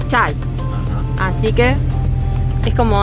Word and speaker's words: çay: Porque de hecho, la última parte, o sea, si sacamos la A y la K, es como se escribe T, que se pronuncia chay.